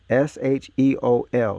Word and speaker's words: Sheol: S-H-E-O-L. Look up the definition of Sheol. It's going to tell you what they did to you in school. Should be pronounced Sheol.